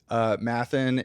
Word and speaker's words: Matthan: just Nathan with an M, so I could see why people would.